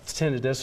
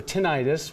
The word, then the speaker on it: tinnitus: reincorporated so let's talk about tinnitus or tinnitus what is it either one is correct for people people pronounce